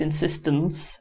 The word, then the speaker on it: insistence: It's actually pronounced insistence with a with a schwa, but it's actually an E.